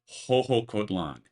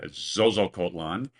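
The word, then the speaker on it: Xoxocotlán: By the way, the English speakers among us will enjoy learning that is pronounced Hook Kotlan. It's not zoookan and it's not shookan.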